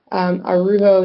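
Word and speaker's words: Araujo: Arujo is spelled A-R-A-U-J-O.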